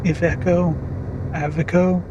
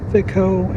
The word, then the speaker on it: Iveco: And I recently started doubting myself on how to pronounce Iveco. I've actually been looking it up on YouTube, and it seems that Iveco and Iveco seem to be the most common pronunciations.